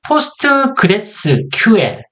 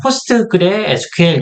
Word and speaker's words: PostgreSQL: 저 같은 경우 그냥 포스트그레 SQL 이런 식으로 그냥 편안하게 말씀을 드리지만 일반적으로 공식적인 발음은 포스트그레스 QL 이렇게 발음을 하시는 걸 권장드립니다.